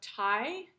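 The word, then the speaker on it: Tighe: but in this neighborhood there's a family name of tai t-i-g-h-e and we think she may have used that spelling she actually used a different spelling when she moved to minnesota later in her life she spelled her name m-c-t-e-g-e so we think that she probably would have pronounced her name mary ty and that that got changed to mactig when she was in minnesota and so this project is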